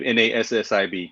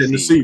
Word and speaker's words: Nassib: How you pronounce it? Carl Nassib, Nassib, Carl Okay, Nassib.